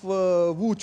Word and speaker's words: Łódź: Well, let me tell you an interesting story that the town of Łódź, which is spelled as LOTZ, is the hub of Indian companies here, and Indian multinationals like Infosys are also based here.